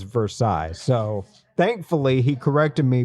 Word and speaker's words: Versailles: And he was like, "It's not Versailles like you're pronouncing it. It's Versailles."